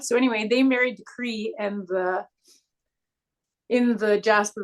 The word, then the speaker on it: Cree: cre K or k c r e e cre cre okay there's no T at the end or anything I didn't know it's just cre not Korean K oh